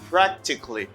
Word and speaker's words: practically: And next vocabulary, you say practically. Practically. In a practical manner, you say practically. In a practical way, you say practically. Don't say practically, okay? Practically. Practically. Don't pronounce, say CALLY, say CALLY. Practically.